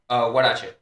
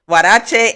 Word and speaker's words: huarache: Huarache.